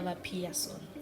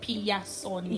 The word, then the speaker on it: Vapiyasoni: I pronounce it in our Shona language like Piyasoni.